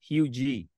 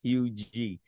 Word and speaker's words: Huger: My last name is pronounced Hugie. So my mom is from South Carolina and dad from South Carolina, and our last name is pronounced Hugie.